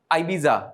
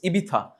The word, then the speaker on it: Ibiza: It's not Ibiza. It's Ibiza. Why Ibiza is famous? Yes, somebody gesture. It's like, again, it's a nightlife. Like Ibiza, people go to Ibiza for vacationing.